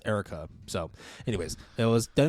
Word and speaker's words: Eureka: on a series called Erica 7 now ER 7 no no Eureka 7 Eureka 7 Erica 7 I don't know they pronounced as Erica so anyways it was